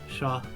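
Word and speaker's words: chat: That that is how you would pronounce sha in you don't pronounce the like hard syllables of the last letters in French. Yeah. So it would be sha.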